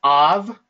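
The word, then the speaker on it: אב: This is av, like A-V, av, like in avocado, av, okay?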